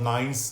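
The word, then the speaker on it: Knysna: garden route to a place called nines now it's spelled K and Y s and a nice now beautiful little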